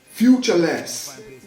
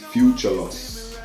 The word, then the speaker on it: Future Loss: a welcome on stage future less and then i have to go up there let me introduce myself no it's not futureless this future loss future loss future loss